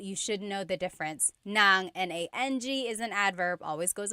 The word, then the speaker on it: ng: an object, the sentence marker here is nang. N g nang.